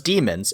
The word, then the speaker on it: daemon: outside their bodies, and we call those demons. But we don't spell them like Demons. We spell it like Daemons.